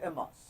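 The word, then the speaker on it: en masse: is improved n mass it's called amos pronunciation is ms what's this meaning it's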